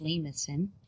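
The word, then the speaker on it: limaçon: with an inner loop this is a french word with the cedilla there that's why it's pronounced lemusin name ascend with inner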